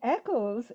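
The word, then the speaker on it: Eccles: in Echo Street and Echo is how we pronounce ECC Lees where I come from and Echo street is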